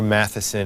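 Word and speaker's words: Matthiessen: Peter, I'm not even going to try to pronounce it. Right, Peter Matheson. It is Matheson.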